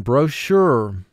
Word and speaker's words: brochure: of the process of baking bread row 7 brochure brochure i read the brochure and it looks great bro sure now for spelling pronounce it bro sure two syllables first syllable